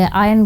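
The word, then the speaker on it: iron: ये जो है ना इसमें आपको आर जो दिख रहा है इसको प्रोनाउंस नहीं करते आयरन नहीं बोलते आयन बोलते हैं तो इट चेंजेज द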